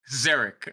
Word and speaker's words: Zerich: you think it's pronounced zerich okay now correct okay with the Z yeah I mean if